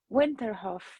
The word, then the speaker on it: Winterhoff: uh welcome vivian um winterhoff did i pronounce him right vivian yeah yes was the german way welcome uh i